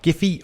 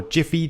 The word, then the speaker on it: Giphy: gonna get mine from giphy or jiffy depending on your preferred pronunciation dot com and i'd